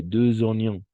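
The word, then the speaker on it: deux oignons: Donne-moi, tu l'as bien prononcé, donne-moi 4 poires et 2 oignons. 2 oignons. Una vez más ahí, liaison avec le X.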